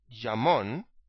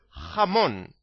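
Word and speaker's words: jamón: a noun okay now you need to clear your throat because you need to make that sound when you pronounce the letter J in Spanish so is not jugar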